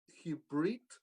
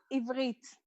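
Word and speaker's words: עברית: Does it sound like Hibrit? Ivrit. Ivrit.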